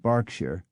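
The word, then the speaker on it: Berkshire: particularly in proper nouns such as Darby Barkley and barkshire though there are many exceptions and inconsistencies as with the town of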